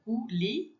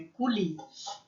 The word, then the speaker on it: coulis: Que é esse OU, tem som de U, então é coulis, e a gente não pronuncia o S no final, lembra?